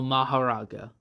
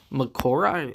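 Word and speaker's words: Mahoraga: 8 Sword Grip Scylla Divine General Maharaga. Or Makora, I think that's one way you can pronounce it. I've always pronounced it Maharaga, and even if Makora might technically be correct, I'm sticking with Maharaga, which has the adaptation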